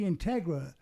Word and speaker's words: Integra: yeah yeah Tom yes it should be Integra not uh yeah that's what I meant